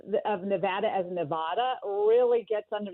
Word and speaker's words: Nevada: you can't be right, Nevadans, because in Spanish, Nevada, which is the origin of the word, is Nevada. Well, that's not exactly right. It's a slightly different pronunciation in a Spanish repertoire, but the reality is